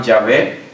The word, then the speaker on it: Yahvé: en español le llaman Yahvé, es solamente la pronunciación de la letra. Una de las letras puede ser como una W, como una V, entonces es más la